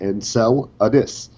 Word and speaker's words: Enceladus: pronounced kelgen um and my legacy name enceladus uh is pronounced and cell addis uh it was a